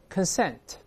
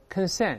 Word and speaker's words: consent: 再读一遍 consent， consent 动词名词发音拼写都一样。